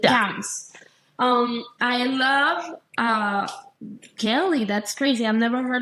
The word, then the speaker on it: Kelle: That's how you pronounce your name, right? Kelly. Kelly. Kelly. Really? With a E and not with a Y.